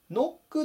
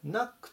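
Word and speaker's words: knock: 800 番ですねナナクノックではなくてナックっていう風に発音しましょう同士でドアを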